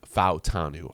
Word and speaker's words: Fautanu: Fautanu, I believe it's pronounced, actually.